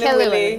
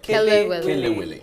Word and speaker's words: Kelewele: Kelewele. Okay. Am I saying it right now? Yeah. Kelewele.